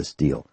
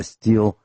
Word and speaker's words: Stihl: go right to the Stihl? And that's Stihl, pronounced Stihl.